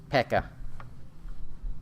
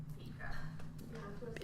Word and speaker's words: Pekah: He's slain by Pekah. However you say that. Kaya. I don't know if the P is silent or not. P-K-A-H. His captain. You missed an E in there, honey. Pika.